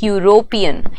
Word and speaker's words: European: you hear when I speak European what is the sound that you hear first you when I say the